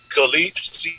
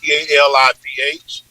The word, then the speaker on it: Khalif: Oh, Khalif, Caliph, like California.